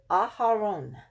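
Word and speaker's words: אהרן: So you know how to pronounce this person's name. Okay, Aharon. Aharon.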